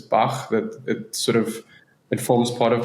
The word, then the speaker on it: Bach: I know the pronunciation is something that trips many people up, and people think it's Bash Films or Back or Bach, but it's Bach.